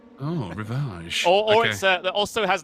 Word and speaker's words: Rivage: You got to pronounce it like a Frenchman. It's Rivage. Oh, Rivage.